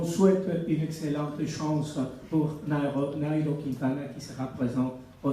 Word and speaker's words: Nairo: Et vous qui prononcez Nero, alors vous diriez Nairo Quintana.